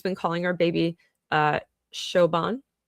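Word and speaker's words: Siobhan: calling our baby uh Shoban, I think, is how that's pronounced. I know it's not pronounced like how it's spelled. That I know the Irish do that. So, um I think is Shoban.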